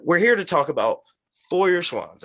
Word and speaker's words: Feuerschwanz: here to talk about foyer swans and did i say it that's it right first of all yeah yep pretty good so speaking to the